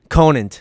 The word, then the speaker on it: Conant: Conant.